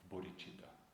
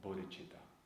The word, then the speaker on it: bodhicitta: This marvelous thought, this marvelous aspiration of bodhicitta. Bodhicitta is a Sanskrit word, has two syllables. First syllable is bodhi, which means enlightened, fully awakened.